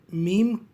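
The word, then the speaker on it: ميم: मीम उच्चारण करने के लिए अपने मुंह को बंद करके धीरे से खोलिए और कहिए मीम. अंग्रेज़ी अक्षर एम, हिंदी अक्षर म और तमिल अक्षर म की तरह ही मीम है।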